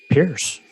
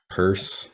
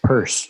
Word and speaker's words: Peirce: But the other thing too is Pierce or Pierce. It's Pierce. Purse. Peirce. Thank you. Yeah. It's such a strange pronunciation. It's not intuitive at all.